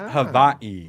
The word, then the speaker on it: Hawaii: I'm going to Hawaii instead. It's pronounced Havaii. Sorry, Havaii.